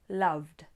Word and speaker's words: loved: The D sound, love, loved.